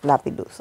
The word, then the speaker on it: Lapillus: I always get it wrong so yes it's Lapidus I will have to get used to that the pronunciation so yes I I did an individual